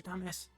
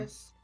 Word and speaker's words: Tumnus: Thomas. Or Sir Thomas. Hey, Said it wrong. Tumnus.